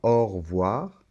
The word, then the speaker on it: au revoir: voir cette lettre e quand on parle un peu comme ça rapidement au revoir on ne l'entend pas et ça c'est très